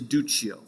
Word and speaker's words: Duccio: three-dimensional realistic style, is Duccio. Right? Italian pronunciations, you'll get used to them, right? An I after a hard consonant makes it soft.